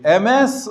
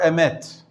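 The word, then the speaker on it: אמת: Do you say MS or Emet?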